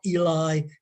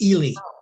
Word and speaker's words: Ely: The big one that people always get is Ely. Ely is not Eli. It's Ely. Ely. Yes. We learned that. Yeah. It's Charles up in was the Bishop of Ely in our Yeah.